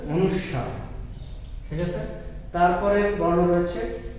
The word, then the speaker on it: অনুস্বার: করতে হবে অনুস্বার আমরা অঙ্গেস্বর বলি বা অঙ্গেশ্বর বলি অনুস্বার বলি কিন্তু আমাদের উচ্চারণ করতে হবে অনুস্বার ঠিক আছে তারপরের বর্ণ